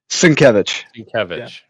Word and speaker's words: Sienkiewicz: Sienkiewicz.